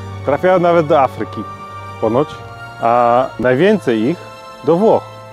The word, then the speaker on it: Å: To jest cała właściwie mieścina A, którą wymawia się jak O.